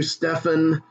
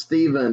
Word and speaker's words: Stephen: that and she's like that's pronounced steven even though it's ph you'll learn all this